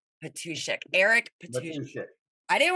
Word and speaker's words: Matuschek: Matuschek. Patushek.